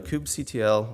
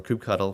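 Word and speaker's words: kubectl: if I do a cube CTL or cube cuddle for those that you know have issues with the way I pronounce coopsy tail you're going to see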